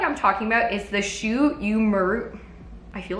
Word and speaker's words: Shu Uemura: So the product I'm talking about is the Shu Uemura. I feel like I never pronounce this brand right. Shu Uemura Art of Hair, and this is the Ashita Supreme Hair Scrub.